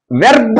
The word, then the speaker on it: verb: VERB వెర్బ్ అంటారు. ఆరు చాలా లైట్ గా పలకాల, పలకొద్దనేం లేదు, లైట్ గా పలకండి, అందుకే లైట్ గానే అండర్లైన్ చేశా. వెర్బ్ తర్వాత యాడ్ వెర్బ్, ఇక్కడ కూడా లైట్ గానే పలకండి, యాడ్ వెర్బ్.